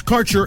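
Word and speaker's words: Kaercher: cannabis Insurance Services is spelled k a e r c h ER that's carer insurance we have worked with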